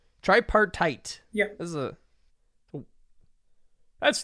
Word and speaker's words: tripartite: tox yeah you know is that how you pronounce that try try part yup try yeah you got it right try part tight yeah this is a